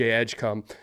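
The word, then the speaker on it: Edgecombe: Cooper flag, VJ Edgecom.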